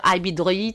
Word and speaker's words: Ibidroïd: Donc, moi, je prononce très mal. J'ai prononcé Ibidroïd Challenge dans sa deuxième édition. Vous allez me dire Ibidroïd, c'est ça? C'est exactement. Ibidroïd Challenge.